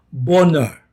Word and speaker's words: Bonar: keluarga Di Skotlandia dan katanya bacanya boner keluarga banget sudah ratusan